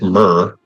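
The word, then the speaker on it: mere: So the in British English mir pronounced myrr uh is a lake pond or air or arm of the sea.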